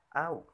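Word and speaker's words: أَوْ: Dan yang selanjutnya au. Hukum tajwidnya yaitu haraf lin karena huruf wawu sukun didahului dengan patah. Cara membacanya yaitu dibaca lembut bunyi wawunya.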